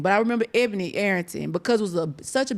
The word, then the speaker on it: Ebony Arrington: post not too long ago with is it Ebony Arrington?